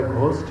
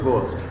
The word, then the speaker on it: ghost: GHOST pronunciation কি? কেউ বলি আমরা ঘোস্ট, কেউ বলি হচ্ছে আমরা গোস্ট, কিন্তু আসলে অ্যাকচুয়াল প্রনাউন্সিয়েশন হলো গোস্ট।